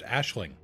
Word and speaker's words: Aisling: etc and yeah that's how that's how it's pronounced Aisling so you would go to here one of